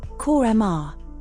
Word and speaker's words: Kurma: Pronounced, Korma.